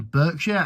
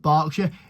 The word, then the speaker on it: Berkshire: Um, yeah, I went to a city of a city called Reading in Burkshire and if anyone tells me in the comments, it's actually pronounced Barkshire. It is spelled with an E.